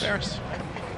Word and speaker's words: Ferris: that just said feriss ferriss it's a lot easier in fact their media relations in the pronunciation guide says as in Ferris wheel right so we're not